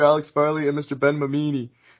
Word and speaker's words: Mamini: Ben Mamini. Did I pronounce that right? Amini? Sorry. Yep, that's correct.